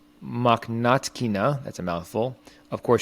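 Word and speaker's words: Mokhnatkina: up against uh marina makhnati i'm saying her name wrong makhnatkina that's a mouthful of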